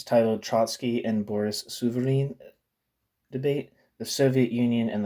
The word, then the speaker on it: Souvarine: It's titled Trotsky and Boris Souvarine Debate, the Soviet Union and the Communist Movement.